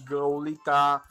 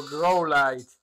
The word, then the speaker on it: Growlithe: Idziemy szukać Growlita. A przynajmniej dwa chcę mieć. Bo tam nazwy tamtego Pokemona nie czyta się jako Growlite, tylko Growlit. Growlit, Growlit.